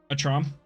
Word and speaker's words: Atrom: It's your name, so you can tell us how to pronounce it. Atrom. Yeah, we'll go with Atrom.